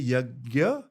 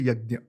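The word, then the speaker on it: यज्ञ: So firstly, you can say yagya, you can say yagnya also. Because it's Sanskrit, it's nya. So some say yagya, some say yagnya. I say yagya just because it's easier to pronounce in English. But in Sanskrit, if you were speaking in Hindi, I would say yagnya.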